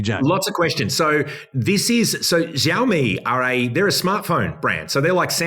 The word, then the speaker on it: Xiaomi: The Chinese EV car brand, is it pronounced Xiaomi? Xiaomi.